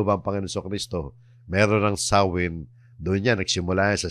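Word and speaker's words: Samhain: nga na kung tawagin a celtic Festival o sawin yung sam Hain sawin sawin Ang ah pronunciation yan tiningnan ko na sa YouTube yan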